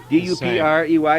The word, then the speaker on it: Duprey: And she said Duprey. And I said, that's not a Chazy name. But they spell it D-U-P-R-E-Y. It's the people who pronounce it Duprey.